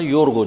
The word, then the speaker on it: Yorgo: George diye yazılır İngilizcesi tabii ama okunduğunda Yorgo diye okunur.